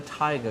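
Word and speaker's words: Thaiger: Uh, one word, no capitals, the tiger code for a 10% discount. The tiger is spelt t h a i g e r.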